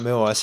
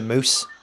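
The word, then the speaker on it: muOS: So apparently, yeah, and also like Moo OS, you're not meant to say it like Moo OS, you're meant to say Moose.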